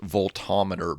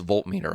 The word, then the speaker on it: voltmeter: I always want to think that's pronounced voltometer, but it's voltmeter, I guess.